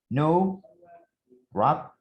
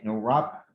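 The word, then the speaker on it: nowrap: but if i used no wrap this w is not pronouncing do not forget if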